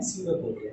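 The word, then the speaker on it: pseudopodia: इसमें एक नाम आता है, ठीक है, डाइजेशन में सीडोपोडिया, इसको ध्यान से देख लेना, स्टार्ट होता है पी से, बटन पी साइलेंट होता है, हम इसको क्या पढ़ते हैं, सीडोपोडिया, ठीक है।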